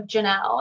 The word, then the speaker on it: Jonelle: at the adventures of janelle and you can see in the bottom corner it's j-o-n-e-l-l-e spelled very weird but pronounced normal um and i do